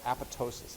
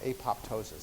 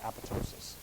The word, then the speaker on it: apoptosis: that process is called apotosis AP p o p t o s i s you'll mispronounce it call apoptosis it's not apoptosis it's apotosis okay and that's what p53